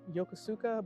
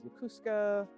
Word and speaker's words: Yokosuka: Yeah, so Tokyo, and then again a Navy base took us to, I would call it Yokosuka, but that's not right. I think it's called Yokosuka is the correct pronunciation of it.